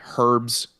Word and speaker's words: herbs: but you guys say herbs say herbs there buddy don't be forgetting nothing about that there buddy yeah yeah she says herbs and I'm just like the H is silent U but um that's